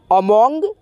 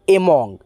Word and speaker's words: among: ठीक है, अब यहाँ पे देखिएगा एम यानी AMONG, अमोंग या दोस्तों एमोंग। ठीक है, दोनों में से कोई भी आप उच्चारण कर सकते हैं, एमोंग या दोस्तों अमोंग।